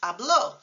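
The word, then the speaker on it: habló: one of them also consider hablo I speak versus hablo he spoke so there the accent mark makes a crucial difference oddlo versus hablo accent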